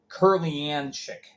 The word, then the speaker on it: Kurlianchik: Meanwhile, Baton Rouge, down the bottom, they signed forward Mark, I don't want to butcher the pronunciation, it's Kurlianchik. Yeah, Curly.